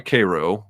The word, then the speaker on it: Cairo: Coleman had been born in nearby Cairo, and if you're watching from out of state, that's how we pronounce it in Missouri, in 1932.